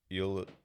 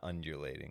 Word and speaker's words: ululating: Ululating. It's ULUL. I don't know how to say it. It's not undulating.